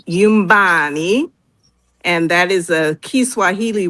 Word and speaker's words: Yumbani: The book is called Yumbani. The N is kind of silent, not completely silent. So it's pronounced Yumbani, and that is a Kiswahili word that means home.